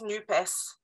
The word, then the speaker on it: NUPES: managed to create this NUPES. I'm going to pronounce the S, by the way. I know the Académie Française said not to pronounce it, but I want the social to be in there.